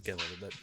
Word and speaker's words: Glenlivet: It's Glenlivet.